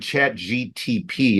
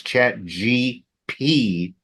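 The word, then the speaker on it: ChatGPT: just so you know you said it wrong you said chat GTP it's not it's chat GPT I said it sorry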